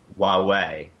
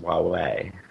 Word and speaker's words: Huawei: I'm sorry to interrupt, but it's Huawei. That's the best thing I learned at CTIA. Huawei. Yeah, it's pronounced Huawei. Huawei.